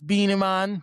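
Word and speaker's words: Beenie Man: Versus Beanie Man. Yeah. Not Beanie Man for all my, you know, English speaking folks. You got to say it right. with some swag, you know, beanie man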